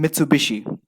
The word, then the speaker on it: Mitsubishi: However, hishi is pronounced as bishi when used in the second half of a word. The combination generated the name Mitsubishi.